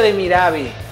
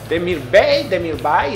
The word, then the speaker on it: Demirbay: Creo que no se pronuncia Demirabi. Demirbay es lo que dice el comentarista, no sé.